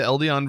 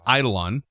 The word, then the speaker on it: eidolon: difficult i would say the ldn version or i keep saying it wrong eidolon version is not horrible either